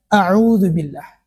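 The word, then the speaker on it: أعوذ بالله: Dan ee kesalahan yang sering terjadi pada kalimat ini adalah ee kalau kita lihat ya tulisan di sini ada auzubillah berarti itu ain di situ.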